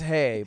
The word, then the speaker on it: hej: table to say hi hedge and they just say hedge that's hej it's pronounced hey but they say come